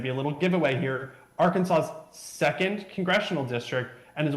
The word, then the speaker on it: Arkansas: I have not either, but I've always found it fascinating that it is spelled Arkansas and it's pronounced Arkansas.